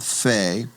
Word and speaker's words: pe: So, it's pay, also called fe, and it's going to get the p sound when we have the doggish in the middle. It'll get the ph sound when it does not.